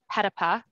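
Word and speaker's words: Petitpas: Now, Marcel is Petapa. I know how to pronounce the name right now.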